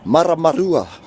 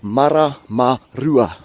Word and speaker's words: Maramarua: Alright, so there's probably only 2 places in there, and that kupu that's difficult to say, and I'm going to teach you how to actually say it, and that's the R. Everything else is pretty simple. They're all short vowels, so there's no stressed letters in there. Alright, so your and your, so it's like saying your vowels short, e, I, o, u.